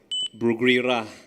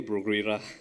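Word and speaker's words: Bruguiera: Some students I know pronounce bra. It's pronounced as Bruguera. Okay, Bruguera.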